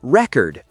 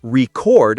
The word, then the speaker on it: record: As a noun, I bought a new record. As a verb, I want to record a song. That's a great one. So, the meaning can change depending on the stress.